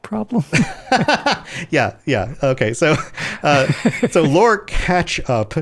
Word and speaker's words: Catchup: Catchup as in catch up, not like ketchup, like the condiment.